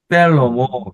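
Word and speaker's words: שלמה: 쉘로모, 쉐와가 이렇게 나오면 여기가 에 발음이 나는데 셀로모 이렇게 나는 거예요.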